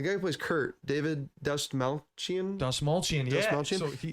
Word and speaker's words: Dastmalchian: I don't know how to pronounce his last name, but the guy who plays Kurt, David Dastmalchian.